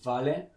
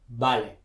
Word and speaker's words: vale: people tend to say vale or even veil okay remember that v the letter v in spanish is the same sound as b like in the barba